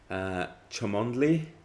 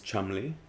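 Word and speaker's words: Cholmondeley: correct it's march banks chamondley which is not correct it's chumley beauchamp or beauchamp it's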